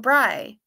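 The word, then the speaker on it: brei: Bry is pronounced like fry. Okay, good. So I did it right, Pamela. Matzo Bry.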